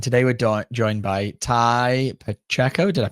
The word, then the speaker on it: Tai Pacheco: I'm your host Ellie Lee and I'm your host Danny Moley and today we're do joined by Ty Pacheco. Did I pronounce that right?